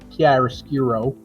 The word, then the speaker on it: chiaroscuro: Chiaroscuro. Or you can say it like an American, chiaroscuro.